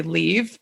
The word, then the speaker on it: Liv: stuff and my mother-in-law's name is actually leave but spelled like live and I'm like oh